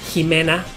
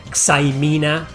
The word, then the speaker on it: Jimena: The princess is Jimena. That's a Spanish name. Jimena, it's not Xaimina or Ximena. No, it's Jimena.